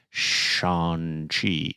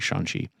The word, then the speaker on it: Shang-Chi: And then they're immediately going to tell you, that's not how you pronounce it. It's Shang-Chi. It's actually Shang-Chi.